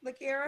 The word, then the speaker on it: Lakira: I said it right, Lakira? Yes, ma'am.